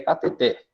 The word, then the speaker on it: cateter: A forma correta é cateter. O som mais forte vai lá no final, vai na última sílaba. Ela é uma palavra oxítona e não uma palavra paroxítona.